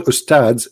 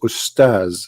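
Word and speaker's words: أستاذ: Even they don't know even how to say the word because the word ustads is not correct in the way they say it. The word in Arabic is ustaz, which means a master, teacher.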